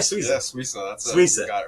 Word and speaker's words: Swisa: Yeah, Swisa.